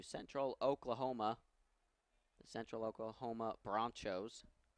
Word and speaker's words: Bronchos: Oklahoma, the Central Oklahoma Bronchos. That is not a mispronunciation. That is correct. They're not the Broncos. They're the Bronchos.